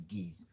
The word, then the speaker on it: GAISE: So any word that ends with E, the AI sound is no longer I, now becomes A. So then you get the pronunciation you want, which is GAISE.